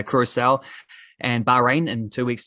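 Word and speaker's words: Curaçao: named to face uh curacao which is how you say it i've checked out it's um i thought it was whatever it's a curacao and bahrain in two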